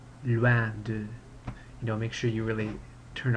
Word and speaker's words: loin de: That looks like the English word loin, but don't say loin de, it's loin de.